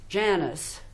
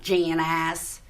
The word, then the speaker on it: Janice: if you want because that's not how you pronounce my name my name is Janice in in French it's Janice in Italiano is janit with a Texan draw it's Janice not janas he's he's getting the